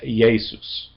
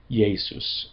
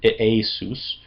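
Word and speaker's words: Ἰησοῦς: name in Greek is yesus. There's a y sound in it. It's spelled with but it but because of the cemetic root it's more of a yesus kind of sound although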